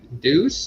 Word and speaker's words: Deuce: without naming any names deuce on the loose yeah rhymes with goose Sean yeah his his